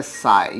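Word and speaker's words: psi: ये जो सिंबल है ये है साई। यहाँ पर p जो है बच्चों वो साइलेंट है, p साइलेंट है। यहाँ पे इसको क्या प्रोनाउंस किया जाता है बच्चों, साई प्रोनाउंस किया जाता है।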